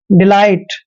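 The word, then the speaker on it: delight: आई ही पढ़ते हैं और टी से पहले जब भी जी एच आता है तो जी एच हमेशा वहां पर साइलेंट होता है इसलिए हमने जी एच का उच्चारण नहीं करना है और टी को ट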